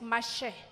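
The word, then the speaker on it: משה: Aunque en hebreo la pronunciación es Mashe.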